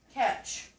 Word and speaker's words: catch: a t CH now since that T is silent you're going to cross it out because you do not hear that word what about in this catch what three letters make